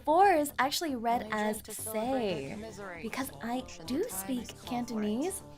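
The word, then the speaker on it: 四: The four is actually read as say because I do speak Cantonese and in Cantonese the number four is pronounced like say and is also a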